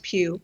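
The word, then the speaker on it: Pugh: an interview she goes, "How do you pronounce my name? Think pew pew."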